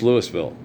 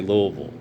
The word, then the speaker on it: Louisville: But it's Louisville. Yeah, I know it's Louisville, but in Southern talk, you say Louisville.